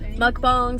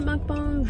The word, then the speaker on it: mukbang: gonna do a mukbang mukbang some people pronounce a month bones but whatever and we're